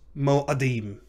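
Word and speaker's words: מוֹעֲדִים: But the tsere is reduced to a composite shava, a chataf patach, which becomes mo'adim. Mo'adim. Notice the hurried nature of that ah sound.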